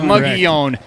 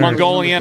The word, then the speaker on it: Mogollon: Mogollon. How do you say it? What's in your mind? What is the correct pronunciation? I say it Mogollon. Mogollon. But people say it Mogollon Mustangs or Mogollon. Right. Mongolian.